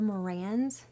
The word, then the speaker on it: Marans: chicken called a copper morans with an S and it's that is how you say it even with a singular they make the darkest